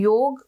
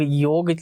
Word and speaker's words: योग: सही से प्रोनाउंस किया नहीं तो लोग योग नहीं योगा जो कि एक्चुअल में योगा नहीं है योग है यह हम वेस्टर्न स्टाइल